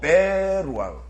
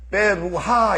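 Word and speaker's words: ברוח: 그리고 베루아흐. 다 같이 베루아흐. 왜 베루아흐라고 읽는다고 했죠? 왜 베루아흐라고 읽는다 그랬어요? 베루하 이렇게 안 읽고 베루아흐 이렇게 읽는다 그랬어요.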